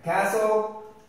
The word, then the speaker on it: castle: a castle okay castle we don't pronounce the T here it's a past so right castle that is letter G